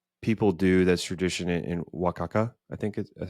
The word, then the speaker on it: Oaxaca: And also our tour guide gave us like a tour of like some of the stuff that people do that's tradition in Oaxaca.